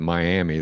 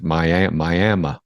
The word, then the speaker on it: Miami: to Miami, Oklahoma, and you don't want to pronounce it Miami. Those people get pissed. It's Miami.